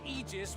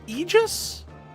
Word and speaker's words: aegis: Indeed, the Beowulf name is our shield behind whose aegis we've long thrived. Oh, is that how you pronounce that? Aegis?